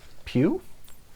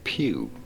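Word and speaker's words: Pugh: this is florence i how do you say her last name pew pug p-u-g-h fit forward once you know as in michelle pew for example pew okay got it uh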